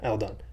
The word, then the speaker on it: Eldon: A lot of people do, because when you separate the word, it's eld on, Oh, like right? break it down So into syllables. Okay. Yeah. right. So I get that, but it is Eldon, but it is all good.